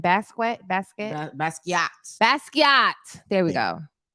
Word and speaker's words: Basquiat: Basquiat. Basquiat. There we Yeah. go. What was I saying? Basquiat, like biscuit.